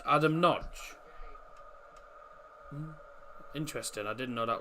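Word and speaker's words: Nagy: but hungry do come away of it Adam noge thought it was Nagi I thought it was Nagi noge okay that's how it's pronounced Adam Nodge interesting I didn't know that was actually how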